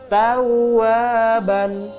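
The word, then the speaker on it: تَوَّابًا: Rasakan huruf wawnya itu double.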